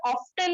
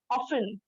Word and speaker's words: often: अब इसमें जो ये वर्ड है ना, OFTEN है, ठीक है, लेकिन ये ऑफ्टन नहीं होगा, ऑफन, ठीक है। OFEN इसको पढ़ेंगे, टी साइलेंट है, टी लिखा हुआ जरूर है लेकिन उसको पढ़ना नहीं है, ठीक है अल्हम्दुलिल्लाह।